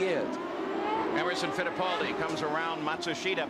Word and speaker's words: Matsushita: emerson fittipaldi comes around matsushita by the way that's the pronunciation that now hero himself has asked all the announcers to use we know it's not the same pronunciation that the family uses or he uses in japan but it's what he wants let's go to gary